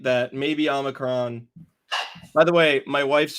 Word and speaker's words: omicron: i said it um she told me that it's not an effing transformer um and said it's omicron is how you pronounce it we're not going to